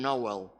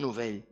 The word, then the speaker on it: Novell: Però Novell, que no pronuncien Nowell, sinó pronuncien Novell.